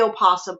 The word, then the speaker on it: opossum: yes ours is the opossum oh but the o is silent okay good to know